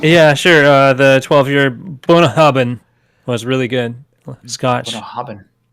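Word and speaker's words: Bunnahabhain: It's like I always call it bunny haven because there's so many letters there. But apparently that giant stretch of letters is three syllables like bun hubbabin or something like bun bun hubbin. Maybe four syllables.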